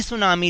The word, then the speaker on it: tsunami: देखो यहां पर टीम सुनामी लिखा हुआ है हमेशा सुनामी को हम ऐसे ही लिखते हैं लेकिन पी हमेशा साइलेंट रहता है इसलिए हम इसको सुनामी पढेंगे टीम सुनामी नहीं पढेंगे ना लेट्स गो टो